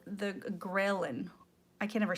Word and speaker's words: ghrelin: And so that's pretty much, and it's called the ghrelin. I can't ever say it right. That's why I had to like look it up. It sounds like gremlin, but it's like ghrelin hormone.